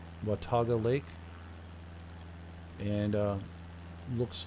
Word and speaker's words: Watauga: to look for the label wantoga that's right pronunciation watauga lake and uh looks like i want to